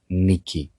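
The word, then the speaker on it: Νίκη: The word that is used for victory in Greek, and it's not a name, it's a word, it's a common word in Greek, it's the word Niki.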